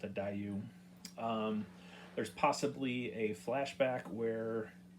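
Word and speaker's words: Daiyu: I think it's called a Dayu. I think that's what it's. I think that's how it's pronounced, a Dayu.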